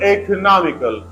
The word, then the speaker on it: economical: third Sy has the primary stress the word economical and first Sy e we have secondary stress we pronounce it a little loudly but the third